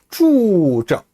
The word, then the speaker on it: 住着: 자, 옆집에는 거비 이어 나온 낱말이 쭈저, 쭈 혀를 살짝 말아 올리고 발음합니다. 저도 역시 권설음이에요. 둘 다 혀를 말고 발음하세요.